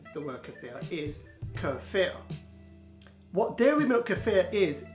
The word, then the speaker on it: kefir: and notice there are some people online who pronounced it as kefir but it's not the traditional way of pronouncing the work of there is kur fear what dairy milk kefir is is a fermented